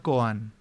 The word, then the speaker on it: koan: un concepto se llama koan que suena como el apellido de Alberto coan pero no se escribe igual se escribe creo que